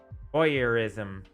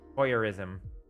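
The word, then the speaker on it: voyeurism: oh it's boy boy uh boy ISM oh Boyer ISM voyerism huh I didn't know I thought I started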